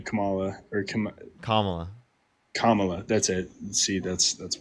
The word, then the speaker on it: Kamala: Pronounce my name. No, not your name. Kamala or Kam Kamala. Kamala.